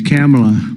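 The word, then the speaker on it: Kamla: Cam as opposed to Com.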